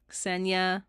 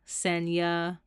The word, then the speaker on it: Sena: me was so funny Sena Sena like Kenya why am I rhyming